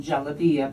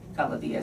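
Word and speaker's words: جلابية: if you know but in egypt the the pronunciation of arabic the soft g like as in jalavia becomes a harji galavia so i used that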